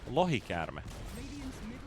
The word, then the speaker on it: lohikäärme: Can you say like how it's said? It's said lohikäärme.